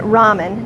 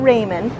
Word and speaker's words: ramen: you and so you'll notice I'm saying it ramen not Raymond ramen is generally regarded as the correct pronunciation unless you're Korean and then you would